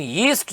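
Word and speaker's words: yeast: Jealous का ज से, जील का ज से, जिस्ट का भी ज से, लेकिन यीस्ट जो है सी, ये य से शुरू हो रहा है, यीस्ट, यीस्ट।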